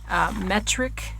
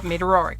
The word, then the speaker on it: Meteoric: on your latest work metric I believe if I'm not pronouncing that right please let me know oh meteoric okay meteororic there we go um